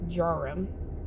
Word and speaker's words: Djarum: printed it's spelled to jaram but it's actually pronunciated as jarom without the d because the d is silence